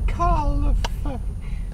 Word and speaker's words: calf: A calf. C-A-L-F. A calf. Well, it's pronounced calf because English is silly. Why is it a C and not a K? Because C can make a K sound.